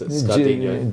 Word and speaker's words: Scardigno: Yeah, the G's a bit silent, but yeah, it's Scardingo. Dino. Yeah, that's it. Yeah, that's the Italian pronunciation.